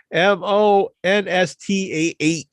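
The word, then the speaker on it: Monstah: monsta monsta expo and it's spelled m-o-n-s-t-a-h because it's in it's near boston so it's monsta so yeah my first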